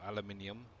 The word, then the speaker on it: aluminium: I definitely know I don't have any aluminum or aluminium, however you want to pronounce it.